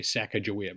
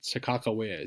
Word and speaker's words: Sakakawea: cholera is growing up we would say Sacagawea but Sakakawea seems to be the way people pronounce it now so saqqaq away is